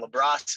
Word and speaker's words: LaBrosse: with 2 L's, and then LaBrosse is spelled like lacrosse, but with the B.